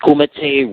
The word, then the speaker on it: Kumite: Is it pronounced Kumite, Ryu Ju-Jitsu?